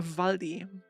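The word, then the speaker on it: Waldi: In German you pronounce that like a V in English.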